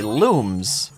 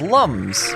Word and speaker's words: Lums: one thousand there's thousands the Rayman Origins website once clarified that the pronunciation of Lums is actually looms yet the original games for those which were dubbed pronounce them as Lums a silver lum it